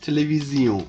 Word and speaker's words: télévision: Television, that is pronounced télévision in French.